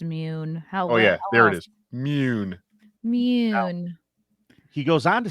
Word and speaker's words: Mune: Yeah, it's probably pronounced Mune. There it is. Mune.